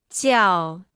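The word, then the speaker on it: 叫: repita en voz alta ciao ciao ciao ciao ciao ciao ciao se pronuncia con el cuarto tono puedes intuir como decir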